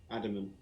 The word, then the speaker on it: Adaman: Adaman.